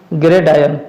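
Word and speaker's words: gridiron: Question number 15 है आपका, choose the correct analogy of football and ग्रेडायन। ग्रेडायन में आर जो है यहाँ पे साइलेंट होता है।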